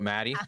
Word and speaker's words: Matty: beings my name is Maddie pronounced like Daddy coming at you live